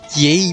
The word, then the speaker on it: Yae: Lady Yae that I think you mean? Not Yae, but Yae.